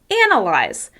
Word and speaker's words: analyze: word analyze is stressed on the first syllable. Analyze. Analyze. That means that the vowel sound is the clearest and the easiest to hear. Analyze. Analyze. As you can hear, I'm making that first syllable longer, louder, and higher in pitch.